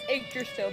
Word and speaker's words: Yggdrasil: Yes, Yggdrasil, because that's how it's pronounced It's apparently. Yggdrasil.